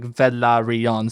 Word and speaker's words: Velaryon: like daenerys germasmo um so valyrians would pronounce it velarion valerian or valeri no it's it's three like there's four syllable words like velaryon so velaryon or valyrian thought that it's an